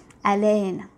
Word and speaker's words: haleine: So it begins with, it's supposed to be pronounced as haleine, right? And without the H being without the H being pronounced at all. In other words, the H is silent.